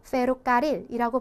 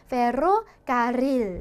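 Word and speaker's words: ferrocarril: 그래서 이 발음을 굉장히 연습하기 좋은 단어 중에 하나인데 얘를 우리가 그냥 평범하게 페로카릴이라고 발음을 하시면은 이 철도라는 뜻이 안 되는 거죠. 그래서 좀 더 정확하게 하자면은 페로카릴 이렇게 굴려서 진동하는 소리로 이런 소리로 내줘야 된다라는 거.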